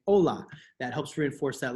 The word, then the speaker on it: hola: the example hola remember we don't say hola we say hola that helps reinforce that